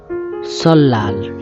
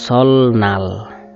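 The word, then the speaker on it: 설날: সল্লাল, সল লাল, এই অনেকেই এটাকে বলে সলনাল। সলনাল উচ্চারণটা একদমই ভুল, এটা হবে সল্লাল, নববর্ষ।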